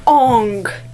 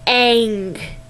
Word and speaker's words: Aang: Also, it is not Ong. It is Aang.